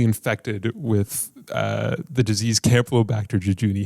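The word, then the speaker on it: Campylobacter jejuni: additional 13 people okay that was how to pronounce camplobacter jejuni yeah there's 13 more cases of people being infected with uh the disease Camp low back to jejuni how many times can I say that within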